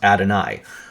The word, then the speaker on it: Adonai: It's Adonai-us, and that's exactly how you pronounce Adonai. It's the I is actually pronounced E in Hebrew.